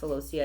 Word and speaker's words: celosia: I think it's pronounced celosia.